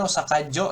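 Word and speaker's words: 大阪城: Ini Osaka Jo ya bacanya.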